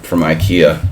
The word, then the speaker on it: IKEA: No, my chair is from IKEA, but it sucks.